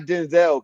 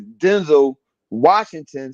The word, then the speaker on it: Denzel Washington: Hey man, what you call it said, the great, talented, wonderful, not Denzel, because that's not how you pronounce his name. His name is Denzel Washington.